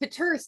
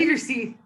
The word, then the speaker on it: Peeterse: I have Mandy Smoker here and Natalie Peeterse. Did I say it right? Did I do it? Peeterse. Oh, see, I didn't.